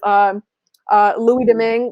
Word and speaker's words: Louis Domingue: in, he is going to be battling with Louis Domingue, which is how you pronounce that third goalie's name.